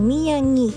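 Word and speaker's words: Miyagi: คะ มิยายิ นะ คะ m i y a g i นะ คะ บาง คน เ ออก เสียง มิยางิ นะ คะ แต่ จริง ๆ พระ มิว ไม่ ไม่ รู้ ว่า ออก เสียง ถูก หรือ เปล่า พระ มิว จะ ออก เสียง เป็น มิยิ นะ คะ เนี่ย ค่ะ เอ่อ อัน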